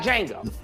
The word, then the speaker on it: Django: They got Django, okay? The D is silent.